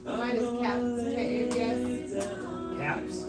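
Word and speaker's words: Kaps: Caps? Caps, like bottle caps.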